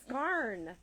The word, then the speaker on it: scarn: Okay, scarn rhymes with yarn.